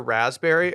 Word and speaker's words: raspberry: Does anyone pronounce the P in that word? No, so 6th grade we had the spelling bee.